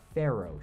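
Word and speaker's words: faro: is what's called a pharaoh shuffle not like the egyptian pharaohs it's spelled f-a-r-o and it's actually named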